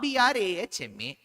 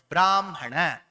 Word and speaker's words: Brahma: If it is Brahma, B-R-A-H-M-A. It is B-R-A-M-H-A is what we pronounce. Brahmana, Brahma, Brahmam. That's how we say. We don't say Brahma, Brahmana, Brahmam.